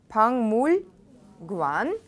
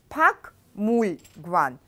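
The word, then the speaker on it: 박물관: Пангмульгван. Пангмульгван. Чибесо. Пангмульгван кади. Да? Только здесь ассимиляция звуков пишется пакмульгван. А читается пангмульгван. Киёк переходит иын.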